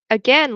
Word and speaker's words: again: Um, but yes, other other examples of words that you know are spelled and sound very differently like again looks like it should rhyme with rain but it doesn't.